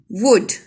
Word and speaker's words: would: Would. L is silent.